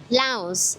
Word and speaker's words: Laos: So actually the S is silent here. So it's actually pronounced Lao. Lao. That's interesting. I say Laos and James say no no S no S.